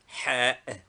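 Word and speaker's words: حاء: Name, Ha. Equivalent, H. Pronunciation, an aspirate strongly breathed out from the chest.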